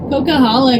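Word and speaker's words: Coquihalla: It's like, you know, CocaCola and then hala. Cocaala.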